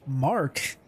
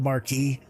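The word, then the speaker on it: Aurora Mk I: it's review section here I thought the ship used to be called the Marquee uh but I've been saying it wrong for like three years so it is the mark not the Marquee it's the pars Roar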